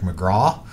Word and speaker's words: McGrath: ancestry is irish mcgrath you know if you wanted to call me by my proper irish pronunciation it would be mcgraw and or mcgraw